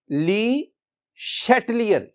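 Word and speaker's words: Le Chatelier: shutter इन 184 यह जो pronounce आप इसे करेंगे ली शटलर शटलर तो दिस वन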